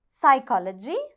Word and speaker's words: psychology: Psychology, honorable, knowledge, leukemia. இப்போ நீங்கள் இந்த 4 வார்த்தைகளை பார்த்தீங்கன்னா இதில் சைக்காலஜியில் ப வந்து silent, honorableல h silent, knowledgeல k silent.